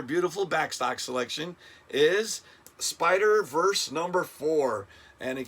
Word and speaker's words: SPDR: is look at this spider verse number three uh this is the cover a riposo cover uh this is um spider that's how you say it spdr spider but it's a beautiful